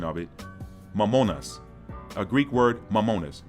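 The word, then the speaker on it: μαμωνᾶς: Mammonas, a Greek word, mammonas. Mammon in English, mammonas in Greek.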